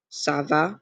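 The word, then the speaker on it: ça va: to tell you that that accent makes the C sound like an S so it's pronounced SAA Sava that means how is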